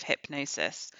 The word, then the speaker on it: Hipgnosis: you about squaring the circle the story of hypnosis spelled h-i-p-g-n-o-s-i-s so hypnosis was an artistic creative